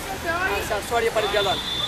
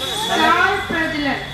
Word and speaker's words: सौर प्रज्वलन: सौर्य प्रज्वलन। सौर्य प्रज्वलन। ठीक से बोले, मैं सुन नहीं पा रहा हूँ। सौर्य प्रज्वलन। सौर प्रज्वलन। सौर प्रज्वलन। अब सही प्रोनाउंसिएशन आया है।